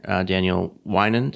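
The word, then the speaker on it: Daniel Weinand: One of the founders was a designer, Daniel Winand. Is that am I pronouncing yes, that right?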